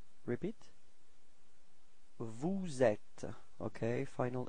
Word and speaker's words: vous êtes: So this small link between the S and the E, so you get vous êtes. Repeat. Vous êtes.